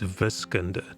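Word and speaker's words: wiskunde: of roads oh mathematico we're more on the dutch german pronunciation and it's it's viscender w-i-s-k-u-n-d-e a completely different base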